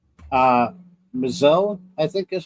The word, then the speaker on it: M'Zelle: Uh M'Zelle, I think is how you pronounce his name. Yeah. Yeah. Just M apostrophe Z E L, M'Zelle.